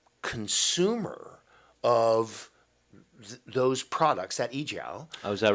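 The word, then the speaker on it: 阿胶: You say the leading importers in the world, and it's pronounced ejiao?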